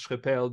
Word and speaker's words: Schrepel: This is quite perfect, and I would not expect that you will pronounce Schrepel the exact French way, such as it should be.